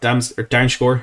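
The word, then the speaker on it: Dumfries: Darmscore, as I've been told it's pronounced.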